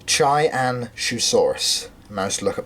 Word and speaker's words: Qianzhousaurus: So yes, I was going to say that I may have mispronounced it in the past, thinking it was Qianzhousaurus. It's not, it is Qianzhousaurus.